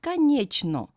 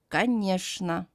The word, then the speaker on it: конечно: Next combination, Ch and N, pronounced as шн. For example, конечно. Not конечно, but конечно. Combination of three letters Z, D, N, pronounced as zn.